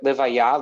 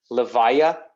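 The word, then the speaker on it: לוויה: Sometimes you hear it pronounced as Levaya. Okay, well, are you going to the Levaya? You know, very kind of Ashkenazi Jewish way of saying it.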